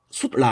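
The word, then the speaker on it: sūtra: 그 다음에 수트라 해놨습니다. 수트라. 이걸 라틴어로는 수트라 합니다. 수트라라고 읽는데 이 산스크리트를 보니까 수트라도 조금 달라요. 수트라입니다. 수트라.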